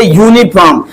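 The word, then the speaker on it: uniform: जैसे यूनिफॉर्म ठीक है यू तो आया है वल है लेकिन जो साउंड आ रही है वो कंसोनेंट की आ रही है सांड आ रहा है कंसोनेंट साउंड आ रहा है यानी व्यंजन ध्वनि आ रहा है यूनिफॉर्म जब लिखेंगे यूनिफॉर्म देखिए यनी फॉर्म यूनिफॉर्म यूनिफॉर्म देखो य आ रहा है ना तो य आ रहा तोय तो कंसोनेंट साउंड है व्यंजन धनि है इसलिए इसके पहले ए लगाएंगे ए नहीं लगाएंगे ओके अ वन आइड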